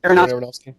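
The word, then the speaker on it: Aronofsky: How do you pronounce his name? Areronowski. Aronowski.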